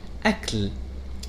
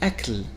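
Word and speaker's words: أَكْل: which means food of these words have the same letters alif lam but the pronunciation is different so what makes it different the main difference here comes from what we know as the diacritics or this short diacritic that occurs above the letter kef and then we will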